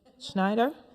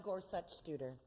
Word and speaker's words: Gorsuch Studer: I'm sorry, Schneider? Just stop right there. Gorsuch Studer is how you pronounce it.